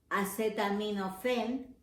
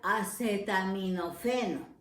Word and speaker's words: acetaminofén: se traduce en español acetaminofén con efe no con ph sino con efe y con acento en la el acetaminofén pero la correcta traducción en otro digamos de otra manera sería acetaminofeno y si buscamos aún